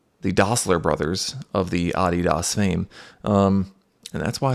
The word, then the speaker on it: Adidas: German army by the Dosler brothers of the Adidas fame. Um, and that's why it's pronounced Adidas.